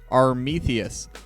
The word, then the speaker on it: Armetheus: the players' names, and it is supposed to be pronounced Armetheus, kind of like a Greek name rather than Army, the US, so little extra PSA.